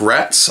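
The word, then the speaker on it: Raats: What I got, firstly, there was a Lucasfilm commissioned artist known as Mark Ratz. I believe that's how he pronounced his last name. It's R-A-A-T-S.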